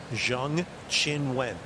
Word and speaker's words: Zheng Qinwen: I'm very good on Chinese pronunciations. Not easy to do. Through experience. Not easy to do. Zheng Qinwen. She's a top 10 player in the world. People need to get her name right.